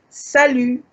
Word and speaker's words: salut: you can also say salut, salut, salut. The T is silent.